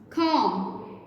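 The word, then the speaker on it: comb: किसी भी वर्ड में एम के बाद अगर बी आ जाता है तो बी साइलेंट हो जाएगा। कॉम, बॉम्ब, lamp.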